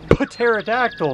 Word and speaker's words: pterodactyl: P yeah no p no it's pterodactyl Molly like pneumonia yeah nobody says nobody says pneumonia because the p is silent because I don't know